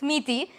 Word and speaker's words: Miti: my pronunciation correct because the spelling is such that everyone thinks it's a different pronunciation but it's meaty so yes hi guys